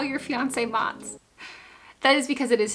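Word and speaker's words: Mats: The way that you spelled it, I can see how it can sound like a nickname because that looks like Mott's applesauce. That is how it's pronounced, but it's M-A-T-S. It's a Swedish name.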